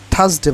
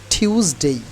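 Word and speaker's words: Tuesday: এখন থেকে উচ্চারণ করব মানডে আচ্ছা তারপরে যে উচ্চারণটি হবে যে দিনের বা ডেই সেটা হলো আমরা কি বলতাম থার্সডে বলতাম তাই না বাট এখন থেকে আর আমরা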